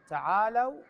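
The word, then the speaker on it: تَعَالَوْا: من العلم فقل تعالوا تعالوا هنان بلام مفتوحه وليس مضموم مضموم مضموم بعض الناس يقراها فقل تعالوا صحيح تعالوا ندعو ابنائنا ايضا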